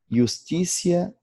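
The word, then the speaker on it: justitia: O T, quando seguido de um I breve e de mais uma vogal, tem o som de C. Justicia, Helvécia, avarícia, paciência. Palavras que se pronunciam Justícia, Helvécia, avarícia, paciência.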